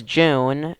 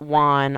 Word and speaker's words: Jun: but not now there's June um not Juan I've heard Juan several times it's pronounced June who's the group sniper